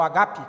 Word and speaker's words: ágape: O amor verdadeiro, o ágape, ou agape, que é verdade, a pronúncia é essa.